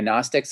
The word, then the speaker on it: Gnostics: to pronounce this word if it's gymnastics or gnostics the g silent okay gnostics explain the matrix the